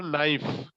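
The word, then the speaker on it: knife: এরপর নাইফ, কে এন আই এফ ই, নাইফ, এরপরে এন আসছে যার কারণে কে এর উচ্চারণ বাদ, নাইফ, নাইফ হবে, এটারই উচ্চারণ হবে নাইফ।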